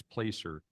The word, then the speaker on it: Placer: It's spelled the same as Placer County, but it's Placer Placer AI.